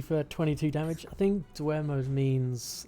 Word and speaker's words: Dwemer: How the hell do you pronounce that? Dwemer.